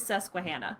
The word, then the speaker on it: Susquehanna: It is Susquehanna.